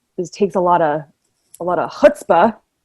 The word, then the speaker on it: chutzpah: takes a lot of chutzpah. Is that the right way to say it? That's the right way to say it. That was well done.